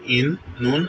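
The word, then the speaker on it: إِنَّا: যেখানে আপনারা দেখবেন যে তাসদিদ আছে, সেখানে এরকম করে উচ্চারণ করবেন যে ডান পাশের হরফ বাম পাশের হরফের সাথে একবার উচ্চারিত হবে এবং বাম পাশের হরফ নিজ হরফের সাথে একবার উচ্চারিত হবে। এভাবে আপনারা উচ্চারণ করবেন। তো এখানে ইন্না এভাবে হবে।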